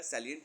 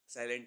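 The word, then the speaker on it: salient: ध्यान दीजिएगा, सैलिएंट features दिया है किसके, कंपनीज एक्ट 2013 के सैलिएंट, ठीक है, साइलेंट नहीं।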